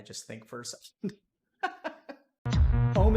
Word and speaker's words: Om: Om is composed of 3 syllables. Ah, oo, and And begin.